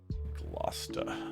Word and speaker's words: Gloucester: Gloucester. My wife yelled at for pronouncing Gravois.